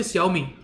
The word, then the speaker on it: Xiaomi: Listen to how they call it. And they will say Xiaomi, Huawei.